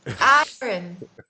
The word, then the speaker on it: iron: do you see you I can't roll my RS and you can roll your RS but I can say silent RS and you can't say a silent r i iron iron iron that's how you say